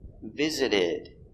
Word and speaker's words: visited: visit in the past visited that's right the t in visit is between vowels visited so the t is pronounced as a d visited did fast deep